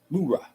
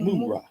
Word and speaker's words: mura: Mura. Don't read it fast. You know Americans do everything. Yeah, but you gotta read it slowly. Mura. Mura. Like Shira.